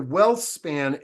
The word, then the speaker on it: WhealthSpan: And Scott, before we get to know you, WhealthSpan, am I pronouncing it correctly?